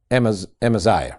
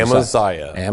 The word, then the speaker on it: Amaziah: You found it where somebody phonetically, it's Amaziah, right, is what we say. Amaziah.